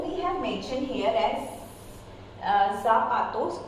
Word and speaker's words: zapato: Though we have mentioned here as zapato, it's not zapato, it's zapato.